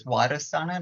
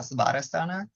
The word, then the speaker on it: Swadhisthana: I actually just found out too, because the V's kind of actually pronounce as a W, so it's Swadhisthana, not Svadhisthana.